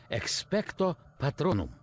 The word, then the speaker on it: Expecto Patronum: Заклинание произносится так. Expecto Patronum.